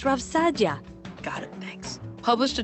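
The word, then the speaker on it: Rav Saadia: with meaning and purpose rav sayaria for example it's pronounced rav sadia got it thanks published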